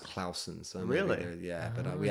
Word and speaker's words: Clausen: And my surname actually should be pronounced Clausen.